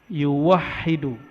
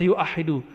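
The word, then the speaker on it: yuwahhidu: Kata tauhid berarti dari kata wahada yuwahidu. Berarti dari kata tauhid, satu, atau ahada yuah. Tapi nggak ada orang baca yuahidu, tetap bacanya yuwahidu tauhidan.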